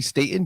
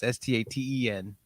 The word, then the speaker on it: Staton: It's actually Staton, Staton. Staton. Sorry. Staton. And it's funny because I live on Staten Island. Yeah. So I know it's annoying. It's spelled the same though? It's similar. It's Staton, and Staten is Staten. Ah, I'm sorry, bro. No, everyone does that. Everyone says Staten all the time.